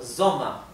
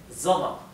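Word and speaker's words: Sommer: que terminan con er la r final también es casi imperceptible y la e tiende a sonar un poco más parecido a una a por ejemplo soma soma venta venta bien y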